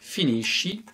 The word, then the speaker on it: finisci: Et du coup, on va avoir un son très doux. Ça ne va donc plus être le son ch, mais ça va être le son ch. Je vais donc prononcer finisci, finisce.